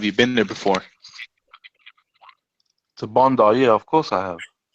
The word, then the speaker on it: Bondi: Bondi, not Bundy.